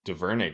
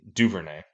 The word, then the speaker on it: Duvernay: about for Bateman is devernay just keep I think I'd say his name wrong Devin Duvernay keeps uh just just